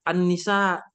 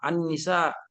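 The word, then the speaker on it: النساء: tulis dulu ya Ah walaupun dibaca Annisa kalau ilmu tajwid namanya kan ada huruf Syamsiyah Nah jadi cara bacanya memang Annisa tetapi tulisannya kalau ditulis Arab Al itu ditulis alif lam dikasih Al baru Nun Oh kan Arabnya jadi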